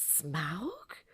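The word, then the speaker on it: Smaug: but everyone was going did you know it's smoke did you know it's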